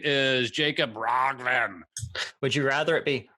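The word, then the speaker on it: Jacob Roggeveen: His name is Jacob Rogven.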